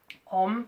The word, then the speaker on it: Om: on which we're going to use today then that's